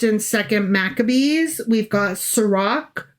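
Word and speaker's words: Sirach: We've got Sarak, which I have been pronouncing Srirach because it's a ch. Sure. Um, but it apparently is a hard C or a K, if you will.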